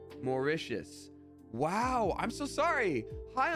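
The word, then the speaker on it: Mauritius: that I'm so sorry how is it pronounced let's see Wikipedia morius morius wow I'm so sorry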